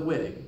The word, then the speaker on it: Wittig: do it is with the whittig or the viig or whatever you want to pronounce it German pronunciation doesn't really matter in this course